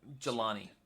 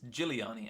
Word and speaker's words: Giuliani: Jelani. Oh, sorry, it's Giuliani, actually.